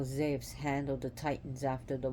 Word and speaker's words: Zeus: and Zeus was actually zephs that's how you pronounce zebs because you is actually supposed to pronounced supposed to be a v so take the U out put a v that's how you say